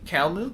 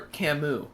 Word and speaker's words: Camus: Calmu? What was the other name you said? Calmu. The person. Yeah, that's not... Or Camus. Sorry, you don't pronounce the L.